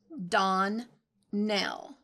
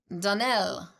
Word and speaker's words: Donnell: Clarice Almira told me that you pronounced our name Donnell. Now, Miss Shirley, the correct pronunciation of our name is Donnell. Accent on the last syllable.